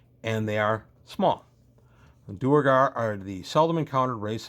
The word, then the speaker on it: duergar: So now we're talking about the Duergar, or the Duergar, as we pronounce them phonetically.